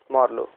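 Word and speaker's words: Marlowe: Elizabethan dramatist और मार्लो, Shakespeare मार्लो। अच्छा, इट कैन be also pronounced as मार्ले, Christopher मार्ले, ठीक है।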